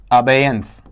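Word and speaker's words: abeyance: next वाला term है अयंस बताइए इसे क्या पढ़ेंगे आपका वहां पर अयंस इस तरीके से अब इसका हिंदी अर्थ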